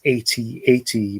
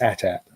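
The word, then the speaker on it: AT-AT: i do stress uh i do pronounce that as at i had some clone on one of my videos telling me i was wrong and it is 8080 but no it's attack so the attack driver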